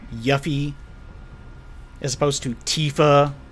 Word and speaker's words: Tifa: issue in seven like Tiffa yuffie is supposed to Tifa which would be spelled with two E's and yuffie which would